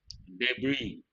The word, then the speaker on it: debris: appreciate and do remember the letter s is silent debris rubble go to question